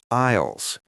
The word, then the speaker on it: aisles: Those are called aisles. It's spelled with an A and an S, but the S is silent.